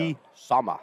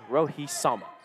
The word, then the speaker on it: Rohi Sama: Rohi Sama. You can't say it, like, blandly. Okay. Like, you know, like, Rohi Sama. Yeah. No. It's got to be said Rohi Sama. Like, sharp pronunciation.